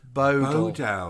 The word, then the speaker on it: Bodell: Bodell is pronounced Bodell.